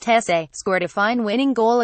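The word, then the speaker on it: Jesé: Jesse, pronounced Jesse, scored a fine winning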